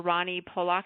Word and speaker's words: Rani Polak: you say your name I've been saying Dr Ronnie poock is that correct or incorrect or that's that's perfect okay good okay well